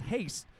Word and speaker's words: Haase: before this game that his last name is X pronounced haste and we are Hayes and we are glad